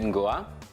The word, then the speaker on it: Nguah: Hi, my name is Nguah, and that is spelled N-G-U-A-H.